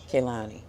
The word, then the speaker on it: Kehlani: And if y'all feel like I'm pronouncing her goddamn name wrong, just say it, baby. Kehlani, okay?